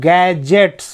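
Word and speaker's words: gadgets: यहाँ पे डी साइलेंट्स है क्योंकि एक नियम है, जब भी डीजी एक साथ होंगे तो वहाँ पे डी साइलेंट्स हो जाता है। और यहाँ पे मैं यहाँ जी को ग पढ़ रहा हूँ, गैजेट्स, यहाँ पे जी को ज पढ़ रहा हूँ।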